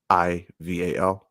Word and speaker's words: Stephen Florival: So it's Stephen like Curry, Stephen, and then his last name Florival, and that's where you can find me at.